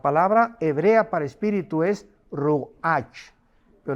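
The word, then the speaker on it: רוח: La palabra hebrea para espíritu es ruach, pero la CH en hebreo se pronuncia como J, es ruach, como J,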